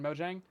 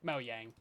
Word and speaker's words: Mojang: Everyone is saying it wrong, so we're just going to make the official pronunciation Mojang." Yeah, that's Yeah, but you're absolutely correct. It is technically Moyang because they be Swedish.